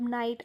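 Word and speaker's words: knight: पण त्याचा उच्चार होत नाहीये नो नो नो नाईट असे बरेच एक्झाम्पल आपल्याला देता येतील तर हे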